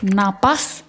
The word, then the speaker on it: napas: Pakai F yang betul adalah pakai P. Napas. P bernapas bernapas.